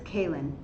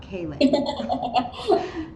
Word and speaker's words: Kaylynn: pronounce her name wrong it's like van halen but it's kalyn it's not kayla and she makes me